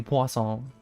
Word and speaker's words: Poisson: I mean, my name in general is a mispronunciation. You know, it should be Poisson. But, no, I like Poisson. I call it Poisson. I've always called it Poisson.